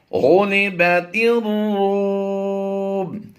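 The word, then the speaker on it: غُلِبَتِ الرُّومُ: गुलिबतिर रूम। ये अलिफ और लाम साइलेंट रहेंगे, ता राज़े तिर की आवाज देंगे।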